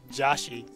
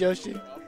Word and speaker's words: Yoshi: I know it's not Yoshi or Joshi. It's not Popo. It's not Joshi. His name's Yoshi.